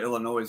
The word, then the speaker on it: Illinois: thoughts on this Minnesota Illinois game I think I think well first of all it's Illinois with the S is silent whatever you could go